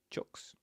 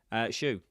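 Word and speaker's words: choux: Oh, is it shoe? Is that how it's spelled with an X? I would never have put an X on the end of shoe. Shoe.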